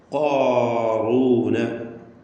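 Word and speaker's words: قارونَ: ഖാറൂന, ഖാറൂന, അത് കാഫിലേക്ക് അടുത്ത് പോകരുത്.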